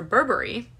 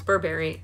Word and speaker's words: Burberry: 2010 emma models for burberry and before anybody says that it's burberry it's not it's burberry i